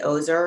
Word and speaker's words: Ozer: My name is Ozer, and that's spelled like a loser without an L.